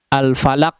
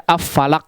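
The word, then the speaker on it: الفلق: ini sudah bisa membacanya tidak ada yang membaca nggak ada al-falaq dibaca affalaq nggak ada ya rata-rata sudah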